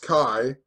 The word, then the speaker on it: Chi: of it the Cairo CH I this is pronounced Kai and ro Cairo think about how